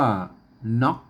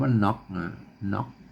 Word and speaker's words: หน๋อก: อัน นี้ ไม้ สั้น อัน นี้ อ่าน ว่า น็อค นะ ครับ อ่าน ว่า น็อค เสียง จัสวา นะ ฮะ เนาะ อาน ต่ำ รับ ภาษา ล้านนา นะ ครับ อืม ถ้า